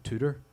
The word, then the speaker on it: Tudor: called The Tudor Cinema I think you guys probably say t tutor Tudor T tutor tutor Cinema yeah so in my Northern Irish accent I pronounced your tutor as Tudor and then we change the spelling to to door that's beautiful yeah actually